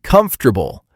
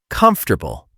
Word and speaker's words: comfortable: When you say comfortable, keep it smooth and relaxed. Do not try to pronounce every tiny letter perfectly.